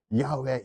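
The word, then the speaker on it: 야웨: 했을 때 야외가 가장 정확한 발음이라고 생각합니다. 그래서 병규 목사님이 예전에는 이제 여호와라고 가다가 이제 어느 순간부터 조용 목사님이 야외 야외 해서 여기도 순보 교회 보면 그 성경 책 다 야외로 기록하고 침내라고 표현하잖아요.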